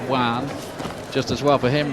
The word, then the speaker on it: Joan: It looks like Joan Guzman when you look at the name on paper, but it's pronounced Juan.